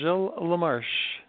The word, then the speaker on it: Gilles LaMarche: Jill lamarche it's not in the way it smelled but it's the way you say it you know it's a French it's a french-canadian name so when you're in